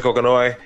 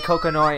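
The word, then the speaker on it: Kokonoe: Like they teach me Miss Lychee, help me Professor Kokonoi.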